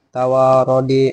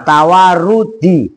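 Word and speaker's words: تَوارُدِ: dan fi'il amar liadami tawarodi. Nah, yang benar ayo coba enggak enggak saya kasih tahu tapi coba Kevin mikir kira-kira itu bacanya apa yang pas liadami. Liadami tawarudi. Nah, tawarudi itu yang benar.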